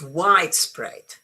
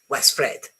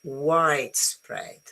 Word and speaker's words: widespread: Okay, so it's widespread. No, widespread. It's cheesecake. No, cheesecake. you know, it's hot dog. No, hot dog. To say it with a stress on the second either changes the meaning or makes the word a bit odd.